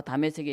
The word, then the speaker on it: 다메섹: 돼지상에게 영장을 받아다가 자 다메섹에 있는 사람들 다 끌어와서 감옥에 집어넣겠다는 것입니다 다메섹은 시리아의 수도 다마크스 다마스커스를 부르는 히브리식 발음입니다 우리가 다메섹 다메섹 하는데 다마스커스입니다 예루살렘에서 230km 떨어져 있어서